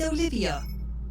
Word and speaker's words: Olivia: at your Advanced ages just think of an olive and add an IIA and pronounce it slightly differently still oliv should get you most of the way there screen's dark you know